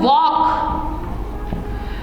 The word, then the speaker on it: walk: इनमें L जो है ये साइलेंट होता है, यानी कि साइलेंट का मतलब है कि इन्हें बोला नहीं जाता है। L जो है साइलेंट रहता है।